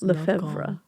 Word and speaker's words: Lefevre: About Victoria, played by, Rochelle Lefevre, I believe it's pronounced. I had my French guy on pronounce names. Tell me, names? Lefevre.